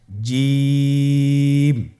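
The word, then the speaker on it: ج: বলুন জিম হা খ জিম হারাফটি বারিক হরফ এটা উচ্চারণ করতে হবে তিন আলিফ টেনে দেখুন আমি কিভাবে উচ্চারণ করছি আপনারা আমার সাথে করুন জিম মাশআাল্লাহ আবার বলুন জিম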